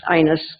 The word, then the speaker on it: Inez: called it ighness because they're from the north and so that Inez is pronounced ines kind of up north and so she was